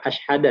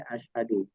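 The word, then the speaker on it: أشهدُ: Nah, di sini bukan asyhada ya. Di sini asyhadu. Ini dari kata nah, di sini katanya asyhadu bukan asyhada.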